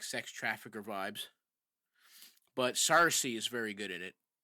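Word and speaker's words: Saoirse: Sarcy.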